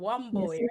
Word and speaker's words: Wamboi: Yes, Wamboi, you can say right?